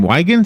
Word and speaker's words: Weigant: how did i do with your name wagons is that right that's correct why can't wow